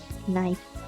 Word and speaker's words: knife: Oh iya, perlu saya ingatkan bahwa ini bacanya bukan knife ya. Kalian tidak perlu membacakannya. Kalian baca saja knife.